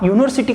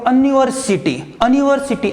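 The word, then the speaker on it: university: यूनिवर्सिटी का करके देखो, आप ऐसा नहीं बोल सकते हो अनिवर्सिटी ऐसा नहीं बोल सकते हो, तो आपको यू कंसिडर करना पड़ता है। स्पेलिंग आपको दिखेगा ऐसा, लेकिन जब हम बोलते हैं तो वो यू कंसिडर करते हैं।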